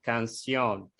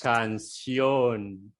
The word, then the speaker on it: canción: Nosotros solemos poner más un sonido más nasal, canción, por ejemplo, como italiano, italiano, italiano, solemos nasalizar la vocal siempre. Y en español no exacto. puede, ¿no? Porque las vocales no se nasalizan en español, ¿no? No es como Son siempre no es nasal, así como portugués.